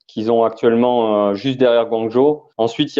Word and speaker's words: Guangzhou: Comment tu dis? Guangzhou. D'accord. Donc la dernière fois, on a appris que Séoul se disait Saoul. Et donc là, cette fois, c'est Guangzhou.